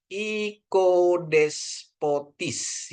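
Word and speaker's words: οικοδεσπότης: Maaf, Omikron ketemu Yota jadi bacanya I ya. Jadi bacanya ikodespotis ya. Ikodespotis ini sigma, ini pa ya. Ini o, ini ita. Jadi bacanya i. Ikodespotis. Nah, os ya, ikodespotis. Ikodespotis ya. Ini harus tinggi di sini ya. Bacanya jadi ikodespotis gitu ya. Ikodespotis ya. Di sini ada akutnya gitu ya, penekanannya.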